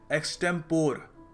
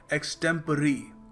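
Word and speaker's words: extempore: काफी लोग इस शब्द को प्रोनाउंस करते हैं। एक्सटेंपोर जो दिखने में लगता भी है थोड़ा कंफ्यूजन हो सकता है। मगर सही तरीका इसको प्रोनाउंस करने का है। एक्सटेंपरेरी एक्सटेंपरेरी।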